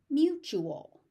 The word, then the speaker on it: mutual: Mutual. T U again.